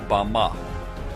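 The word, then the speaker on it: במה: in the Strong's Hebrew Dictionary, and it is pronounced Bama.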